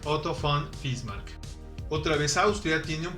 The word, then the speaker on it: Otto von Bismarck: son 3 marc ojo la uve se pronuncia como efe y normalmente en castellano se dice autobomba es marc pero para producirlo correctamente en alemán otto von bismarck otra vez austria tiene